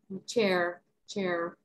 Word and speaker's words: chair: Creo que sería como así, chair, más británico. Yeah. Y se escucha una pequeña R. Chair, chair.